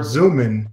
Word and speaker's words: Zoomin: it comes out in the word zoomin is always pronounced zoom in exactly that's great for